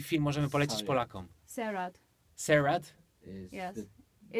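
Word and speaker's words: Sairat: Serat? Serat. It's a Okay. really nice movie. Pisze się Serat po prostu? Przez S. Sariat.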